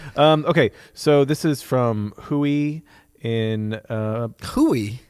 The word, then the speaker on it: Rui: Okay, so this is from Hui in Hui. Hui. It's spelled R-U-I. Isn't that Hoya? Yes. Hui. I believe was it's thinking of Portuguese.